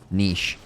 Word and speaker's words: niche: Filthma, how people can't pronounce niche? Niche. I say niche. Because that's how you say it, right?